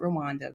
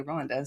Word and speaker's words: Rwanda: Some people pronounce it Rwanda, but the people from there say Rwanda.